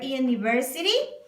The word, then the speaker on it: university: have to say University so you have to pronounce with Y so obviously it's gonna